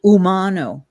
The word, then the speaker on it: Umano: ter one thing sorry my name is pronounced Umano Umano Umano yeah because I